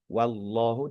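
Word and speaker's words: وَاللَّهُ: Wallahu. Di sini perhatikan huruf wwunnya tipis. tetapi lafaz jelahnya tebal gitu ya.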